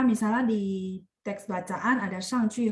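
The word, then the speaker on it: 上去: di teks bacaan ada 上去和上来. Lainnya ini sama 去 -nya dibaca nada 5. Iya, betul. Ini karena mereka di sini berfungsi sebagai arah.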